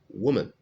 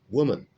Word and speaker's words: woman: right here we have woman woman okay this o here is pronounced oo okay it's an u sound where this o is